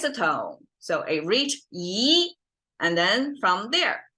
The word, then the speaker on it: 一: And 一面, okay, by itself, it's pronounced, our number 1 in Chinese, pronounced as 一. But because 一 is flat, and then right next to it is a falling tone.